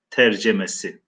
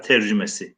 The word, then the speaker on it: tercüme: Kur'an-ı Kerim'in Türkçe tercemesi veya tercümesi, günümüzdeki telaffuz şekliyle tercümesi şeklinde okuyoruz.